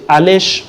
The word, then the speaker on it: Alesh: sociaux, j'en parle souvent surtout sur Twitter, c'est Alèche officiel. Alèche s'écrit A-L-E-S-H.